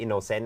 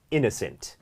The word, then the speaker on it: innocent: act cute and innocent ซึ่ง สังเกต การ ออก เสียง นะ ไม่ ใช่ innocent นะ ครับ เป็น innocent innocent หรือ ถ้า เรา บอก